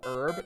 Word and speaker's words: herb: Did it just used to be spelled herb? No, it just had a silent H. And then the English just started pronouncing it with the H like I think it was about 150ish years ago, something like that.